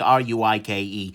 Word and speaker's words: Ruike: Maybe it's going to be the case that they'll get enough market saturation that you can say rake and people will think R-U-I-K-E.